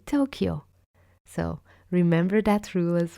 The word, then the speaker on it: Tokyo: Another thing is that the letter Y is pronounced Y, like in Tokyo or Kyoto. You don't say Tokayo or Kyoto, for example, right? You say Tokyo.